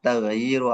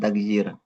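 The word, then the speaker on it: تغيير: Ini bacanya tagayyur bukan tagyir. Tapi kalau ya dua bacanya tagyir.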